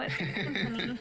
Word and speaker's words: timpani: A Yeah, you are timpani. not pronouncing that right. Jesus Yeah. fucking Christ. It is now a timpanini, so... No, it's a timpani.